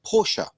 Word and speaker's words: Porsche: Now myself, I take this very seriously because I go out into the world every day and try and teach the word Porsche. It's Porsche.